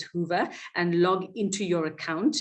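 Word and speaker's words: Whova: on to the wova hoover app i think it's hoover app w-h-o-v-a that's how it's pronounced as hoover and log into your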